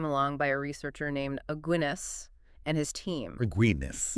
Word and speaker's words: Aguinis: But then this meta-analysis from 2018 came along by a researcher named Aguinis and his team. Agreedness. Yeah, Aguinis. It rhymes with beer.